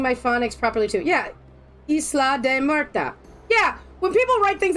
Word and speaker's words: Isla de Muerta: Thank you for pronouncing my phonics properly too. Yeah, Isla de Muerta.